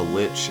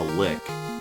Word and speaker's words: lich: cool comparison yeah there's a difference between like calling a lich a lick which is just pretty much pronouncing it incorrectly and calling washington washington like that's just saying it the way you say it yo what i mean